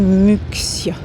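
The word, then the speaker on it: Muxía: Santuario d'abarca à il s'écrit Muxia. Je suis étonnée qu'on prononce les X comme au Pays-Basque alors qu'on est en Galice.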